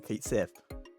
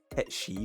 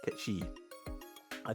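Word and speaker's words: Cait Sith: no it's pronounced like k shei or something um thank you stream elements feel incredibly delayed response um yeah appar it's called like K like Ki it's like Celtic or something from Scotland which makes sense now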